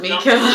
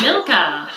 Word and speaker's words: Milka: Not Mika. Milka.